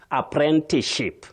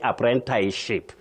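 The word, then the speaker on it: apprenticeship: So we have something called assimilation. In this case after saying t you just go straight to ship. Apprentichip. Apprentichip. Don't say apprentice ship. That one you'll have a problem.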